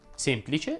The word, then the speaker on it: semplice: non è mai semplice semplice va pronunciato chiuso ricordi il pontefice incontrò